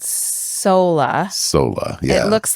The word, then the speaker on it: Soula: found this thing called SOLA. Yeah. It looks like doula. It's spelled SOULA. Like doula with an S. Yes, but they pronounce it like soul.